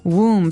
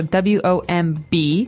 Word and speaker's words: womb: Womb. So this might look like a very hard word to pronounce. There's a B there, so W-O-M-B.